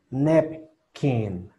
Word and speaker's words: napkin: este sonido se pronuncia, como les digo, en medio de lo que sería la A y la E torpe, aquí en medio. Su sonido es este. A, A, na, nap, nap.